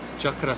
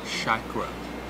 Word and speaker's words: चक्र: you take the whole चक्र system number one इट इज चक्र एंड नॉट शक्र द वे वी से इट इ चक्र सो वन वी सी